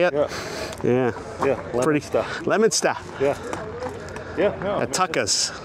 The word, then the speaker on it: Leominster: Yeah, Leominster.